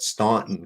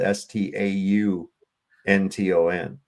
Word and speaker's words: Staunton: But that's the thing about Staunton is that people that are not from here call it Staunton cuz it's spelled s t a u n t o n, but it's pronounced Staunton.